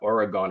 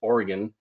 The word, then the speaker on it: Oregon: This was a recent case where a creamery in Myrtle Point, Oregon-- took me forever to pronounce that apparently it's not Oregon, it's Oregon, pleaded guilty to four counts of violating the Clean Water Act.